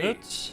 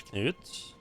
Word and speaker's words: Knut: name because it's like Knut. Like it feels like there's a very distinct pause between the K and the N.